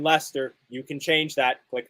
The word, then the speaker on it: Leicester: need a little flavor everyone on this watch along pronounces the r in leicester you can change that